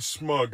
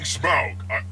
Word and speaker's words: Smaug: I'm saying Smaug. I couldn't be any clearer. Like the word? Like a smug look? Smaug. S-M-A. That's not important. Smug is spelled with a U, by the way.